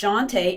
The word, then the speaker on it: Shawnta: And I said, my name is Shantae. It's pronounced Shantae and it's spelled Shawnta. That's how my name is spelled and pronounced.